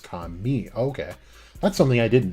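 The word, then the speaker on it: 髪: For God, there's an emphasis on ka in me, and for hair, it's pronounced ka mi.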